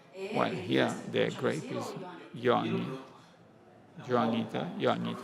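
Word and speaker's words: Johanniter: here their greatest Young Juanita how do you pronounce it that's my reasoning is they come from Germany so let's call it johannita we like it on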